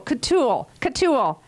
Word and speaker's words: Coutul: Peter don't tell me, Coutul. Is that correct? Close enough. It rhymes with O'Toole. Coutul.